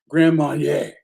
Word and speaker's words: Grand Marnier: Grand Marnier.